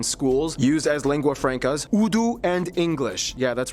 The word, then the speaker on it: Urdu: and taught in schools, used as lingua francas, Urdu and English. Yeah, that's right, it's pronounced Urdu, not Urdu.